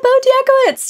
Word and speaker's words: btz: want to say like btz am I saying that right yeah btz yeah that's it apparently I mean